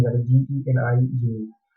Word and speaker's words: Jini: So the word genie means the David. It's pronounced like a genie, that is Geni genie.